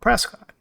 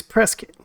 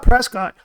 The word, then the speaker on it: Prescott: now and you caught Prescott a local will correct you and say it's pronounced Prescot it's strange the barenstein